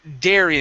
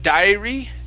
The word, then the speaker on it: dairy: to this word here dairy instead of diary diary it's dare dairy dairy all right very